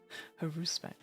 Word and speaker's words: Haruspex: Haruspex. Haruspex. Okay. Oh, my mouse is slowly dying. Okay, there we go. We're back. Haruspex.